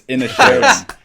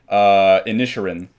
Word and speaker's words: Inisherin: No, it's Inisherin. Great. See, that's why we bring him on, because he can correct me when I pronounce movies wrong. But Banshees... It's better than what you guys were saying before, which is Inisherin. Yeah. Hey, we're improving. There we go. You know what else improved? We had the emphasis on the wrong syllable there.